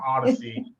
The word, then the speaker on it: Oddisee: So I think it would be so fitting to have Odyssey, and it's spelled Odd, Oddisee.